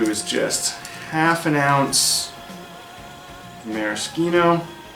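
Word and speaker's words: Maraschino: just half an ounce Maris ketone using that Italian pronunciation then it really does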